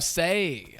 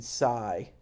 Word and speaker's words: Sai: Anyway, Shout out to Say. I said it right. Yeah, there we go. Can I confess something to you again, PD? Yeah, go ahead. I was saying sigh pretty much the whole time I was watching the